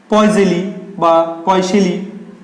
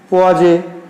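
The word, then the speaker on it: Poiseuille: এই যে দেখতে পাচ্ছ এর উচ্চারণ কিন্তু বিভিন্ন বইয়ে বিভিন্ন দেওয়া আছে। কোনো বইয়ে লেখা আছে পোয়াজে, ঠিক আছে, কোনো বইয়ে লেখা আছে পয়জেলি, কোনো বইয়ে লেখা আছে পয়সেলি, ঠিক আছে, কোনো বইয়ে লেখা আছে পয়জেউলি। তো এর যেহেতু উনি ফরাসি বিজ্ঞানী ছিলেন, তো ফরাসি দেশের উচ্চারণ আমাদের মাথায় ঢুকবে না, তো কোনো একটা বললেই সঠিক, পয়সেলি বলো, পয়জিউলি বলো, পোয়াজে বলো, সবই সঠিক, ঠিক আছে।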